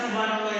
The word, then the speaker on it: Subhanallah: pertama tasbih tasbih dalam e bahasa Arab ee bacanya Seperti apa ada yang tahuhanallah apa subhanallah subhanallah betul ee dan kata Subhanallah ini e terdiri dari dua kata yaitu Subah